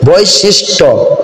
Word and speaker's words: বৈশিষ্ট্য: ট বৈশিষ্ট্য তারপর আছে জ ফলা টর পরে জ ফলা আসার কারণে ট এর সঙ্গে যেই বর্ণের পরে জ ফলা আসবে সেই বর্ণটা দুইবার উচ্চারিত হবে বৈশিষ্ট্য টকার ট এখানে দুইটি উচ্চারণ হচ্ছে জফলা থাকার কারণে ট এখানে দুইবার উচ্চারিত হচ্ছে বৈশিষ্ট্য তারপর তিন নাম্বারে